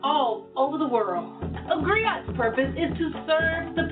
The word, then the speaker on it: griot: It's pronounced griot, or in English, a griot.